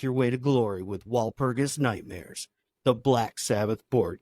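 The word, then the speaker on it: Walpurgis: instead of War pegs they wanted to call it wal perus or probably the German pronunciation is V perus but uh Val perus yeah so it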